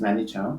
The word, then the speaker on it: Nani Chan: She mispronounced the name. The name is Nani Chan, but you can keep it short at Nani.